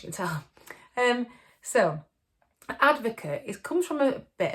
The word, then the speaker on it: ADVOKATE: i'm going to look at is something called advocate i'm not talking about advocate stuff that you